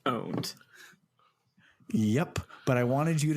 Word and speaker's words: pwned: __ ] just said pwned in the year of Our Lord 2020 also it's never been pronounced pwned it's pronounced owned yep but I wanted